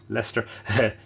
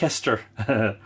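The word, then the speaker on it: Leicester: 66 typewriter manufactured in leester you would think l s t e r wouldn't you l e i c s t e r like Lester it's a bit like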